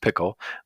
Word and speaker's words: Pkl: What is Pickle? And it's spelled PKL, I should point out, which should be in the title, but pronounced Pickle, but PKL.